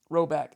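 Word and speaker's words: Rhoback: That's spelled ROB. RHO back. R H O B A C K. Rowback.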